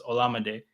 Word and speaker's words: Olamide: His Twitter name gives us the pronunciation, because his Twitter day is Llama Day, like llama as in the animal and day, right? So it's like, then he has in his bio, I think, like, that's how you pronounce my name. So it's Olamide. Okay.